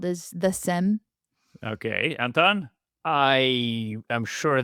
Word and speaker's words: SIEM: only way it should be called is the SIM. Okay, Anton? I am sure there's some kind of Gartner approved pronunciation from 2005, but I just say SIEM. Okay, so we'll stick with SIM.